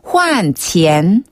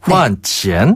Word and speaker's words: 换钱: 먼저 환전은 한국어랑 발음이 정말 비슷한데요. 换钱. 오, 좋네요. 换钱. 한 번 더. 换钱.